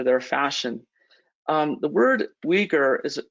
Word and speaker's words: Uyghur: fashion um the word uighur is actually pronounced we wore but in english we commonly just refer to them as the uyghurs there's about 12 to